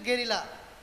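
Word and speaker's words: guerrilla: তারপর মেইনলি এ গেরিলা, এটা উচ্চারণ হচ্ছে গেরিলা, ঠিক আছে, ফাইটার, গেরিলা ফাইটার, যোদ্ধা ফাইটার, রাইট।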